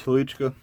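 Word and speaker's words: Hnilička: I believe I'm pronouncing that correctly, because I remember seeing his name as a kid and wondering how the expletive you're supposed to say that word. But I'm pretty sure, at least the anglicized pronunciation is Halichka.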